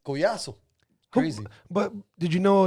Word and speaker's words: Collazo: italy maybe you say it in english they pronounce it collazo sound in italian man i can't tell you how many italians are new yorkers oh colossal i'm like hey forget about it but yeah it's collaso crazy but did you know enough about your